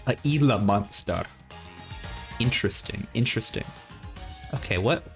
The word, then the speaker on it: Gila: The G is pronounced like an H. A Gila monster.